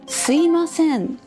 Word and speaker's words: すいません: Sometimes you say すいません for すみません If you say すみません very quickly, won't it become すいません which is easier to pronounce?